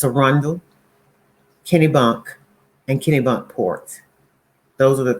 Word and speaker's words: Kennebunk: Um, as she's doing big things up there in Kenny Buck, correct? Kenny Bunk. Kenny Bunk, okay.